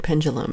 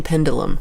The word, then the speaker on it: pendulum: Svengoolie, pendulum is how you say the word. They kept saying pendulum. That's not the word.